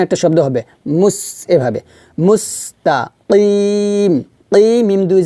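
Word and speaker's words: مستقيم: তো এখানে আমরা একটু বাতাসটা চালু রেখে উচ্চারণটা করব, মুস। এই যে লাস্টে দেখুন একটা শব্দ হবে মুস, এভাবে মুস্তাকিম।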